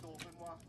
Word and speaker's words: Dauphinois: Millions of people storming to death, and he's just sat in a vat of Dauphinois. Did I pronounce that correctly?